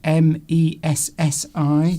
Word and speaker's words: Messi: Messy is pronounced exactly the same as, is it Messi?